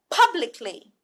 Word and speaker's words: publicly: in this case if there is a stress or emphasis on the B sound here pub pub look at